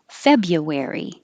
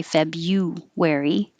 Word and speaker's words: February: February, you can say February, or more commonly, make it more relaxed, February, February.